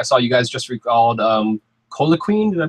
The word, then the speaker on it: Coquelin: I saw you guys just recalled Colaquin. Did I pronounce his name correctly? Coquelin, right?